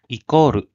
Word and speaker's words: イコール: So here, equals is pronounced as ikoru, equals.